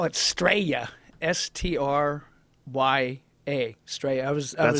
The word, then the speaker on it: Straya: They call it Straya, S-T-R-Y-A, Straya.